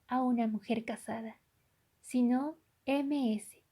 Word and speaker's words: Ms: MRS, que designa a una mujer casada, sino MS, que se pronuncia Miss con la S sonora.